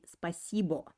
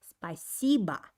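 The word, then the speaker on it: спасибо: to sound more natural the accent is put on the second syllable while the last o actually isn't pronounced clearly i don't say spacebo i say spiciba spiciba spicybam means thanks and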